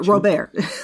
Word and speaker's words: Robert: And I see where and Robert too, or Robert. Let me use the French pronunciation.